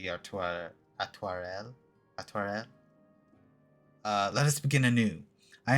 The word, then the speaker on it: Artoirel: Atoire is as close as I can get to like proper French pronunciation, though my guess is gonna be I do hit that L at the end for this like sort of faux French pronunciation that has been sort of consistent. So it would be Atoirel.